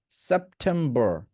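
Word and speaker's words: September: যদি আপনি ব্রিটিশটা ফলো করতে চান, এটাকে বলতে হবে সেপ্টেম্বর, সেপ্টেম্বর, সেপ্টেম্বর। অর্থাৎ আরটা উচ্চারণ হয় না ব্রিটিশে।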